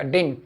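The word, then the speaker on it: didn't: याद रखना, कुछ लोग डिडंट, और कुछ आप अगर मूवी देखते हो तो आपको उसमें ये भी सुने आएगा डिंट, नो आई डिंट। हाँ ये भी एक प्रोनाउंसिएशन है।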